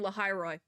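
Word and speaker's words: Lahai-Roi: Because that's how I thought it was pronounced, but I like didn't. It's like when you pronounce something, but you're also like, that doesn't sound right. No, it's right.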